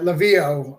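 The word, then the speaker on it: Laveau: um yeah you get they're saying it right lavio i'm saying it wrong lebeau is uh gambit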